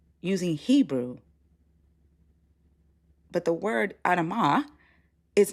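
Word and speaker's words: אדמה: Like, are you aware that in Hebrew, Adam is Adamah, not Adam, it's Adamah?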